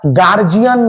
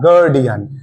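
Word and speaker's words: guardian: lipstick নয় কথাটা lipstick কথাটা গার্জিয়ান নয় কথাটা গার্ডিয়ান আমরা ম্যাক্সিমাম বলতে শুনেছি বলে গার্জিয়ান এটা হবে গার্ডিয়ান নট গার্জিয়ান কথাটা সাজেশন নয় কথাটা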